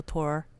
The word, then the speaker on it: Thor: saw a clip of the real tour H doll which is spelled Thor by the way and it would